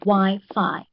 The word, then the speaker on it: Wi-Fi: So if there are 2 vowels, it means that this one has 2 syllables. Okay, so the first syllable is Y and the next one is Fi. So Wi-Fi, Wi-Fi.